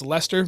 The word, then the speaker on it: Leicester: visit them directly in Leicester it doesn't look like it's pronounced Lester but it's Leicester Massachusetts lead catch Chester